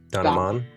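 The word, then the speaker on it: Don, Aman: I've always done it like it rhymes. Don Don. Aman.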